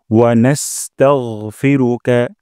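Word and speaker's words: ونستغفرك: তারপর ওয়ানাস্তাগফিরুকা, এখানে ওয়ানাস্তাগ, টাগ বলবো না, গাইন মোটা করব।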